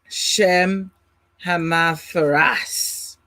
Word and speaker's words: Shemhamphorash: The Hebrew pronunciation Shemhamphorash or Shemhamphorash. Now, you have different governing or ranks.